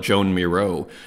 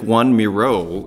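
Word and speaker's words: Joan Miró: And again, that's Juan Miro, like the Spanish surrealist. It's pronounced Juan. I always used to call it Joan Miro, J-O-A-N. So you see, like, this is like Juan Miro is how this person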